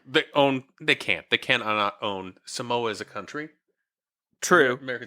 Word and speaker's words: Suhmowa: It's a Samoa. Samoa. Oh, Girl Scout. All right, got it. So, but it's spelled SUHMOWA, and then cookie and beer.